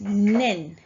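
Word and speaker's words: 年: Now, this kanji is pronounced as nen. Nen. So please write above your kanji, the hiragana, nen.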